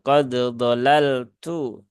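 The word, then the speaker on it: قَدْ ضَلَلْتُ: ini ya Nah Q qod dolaltu nah di sini tidak boleh dibaca dengan Idgham ya Nah harus dibaca dengan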